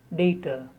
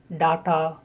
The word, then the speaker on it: data: The most commonly used British pronunciation is data. In American, it may be data or data. In British, normally it is data.